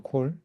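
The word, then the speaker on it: כל: 자 주의할 것은 이건 칼이 아니고 콜이에요. 콜 발음할 때 콜입니다. 원래 카메츠는 상황에 따라 아도 되고 오도 됩니다.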